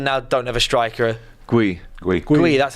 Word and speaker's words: Guehi: Guehi, that's how you say it.